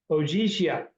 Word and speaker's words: Ogygia: shores of the island Ogygia. That's how you pronounce it in English. It's a little bit different in Greek. The G would be silent.